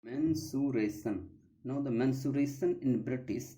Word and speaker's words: mensuration: Now, the pronunciation according to the Merriam-Webster dictionary, mensuration. Mensuration.